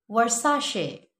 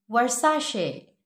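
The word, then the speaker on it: Versace: Another वर्साशे, वर्साशे, वर्साशे.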